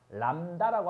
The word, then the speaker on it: 람다: 람다라고 앞으로 쓸 거야. 나만 그러지 않아. 다 얘를 뭐라고 읽어?